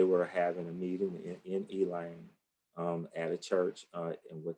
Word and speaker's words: Elaine: Yeah, and it's spelled Elaine, but the people here say Elaine. That's our southern drawl.